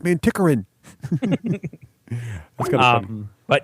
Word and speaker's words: Manticoran: Is it's Manticoran. Not Manticoran.